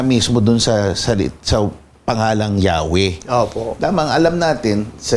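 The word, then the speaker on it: Yahweh: Kinuha yung mga patinig o tunog patinig din ng adun nilagay doun sa YHWH. Kaya eventually yun yung universally accepted na pronunciation eh Yahwe dahil nga isinal naman ito sa ibang wika.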